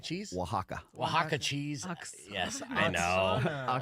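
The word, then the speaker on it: Oaxaca: Pablo pablano Peppers uh how do you say Oxana cheese waka waka cheese yes I know know save yourself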